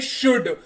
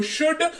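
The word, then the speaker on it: should: और यहां पर भी एल को कहेंगे चुप रहो और इसको पढ़ेंगे शुड एस एच ओ यू एल डी एल हो गया साइलेंट पढ़ेंगे इसको शुड अर्थ इसका निकल कर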